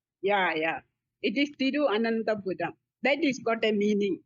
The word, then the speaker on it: Thiruvananthapuram: It's too difficult to pronounce. Thiruvananthapuram. Yeah. It is Thiruvananthapuram.